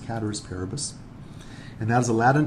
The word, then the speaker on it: ceteris paribus: It looks like it's ceteris paribus, but it's actually pronounced cateris paribus.